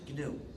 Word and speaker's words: GNU: of this operating system please do not follow the dictionary please pronounce it gnu don't pronounce it new if you say the